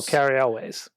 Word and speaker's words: Cary Elwes: Oh, Cary Elwes.